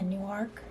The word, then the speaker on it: Newark: How do you pronounce it? Newark? Yeah, Newark.